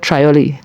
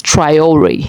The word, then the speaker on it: Traoré: Yeah, it's Triori. Yeah, Triayor, like you make it sound like there are two e at the end, but it's one.